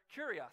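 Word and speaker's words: κύριος: translate masters is really this word kurios that's how it would be pronounced and it's idea is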